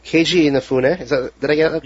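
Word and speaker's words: Keiji Inafune: Keiju Inafune.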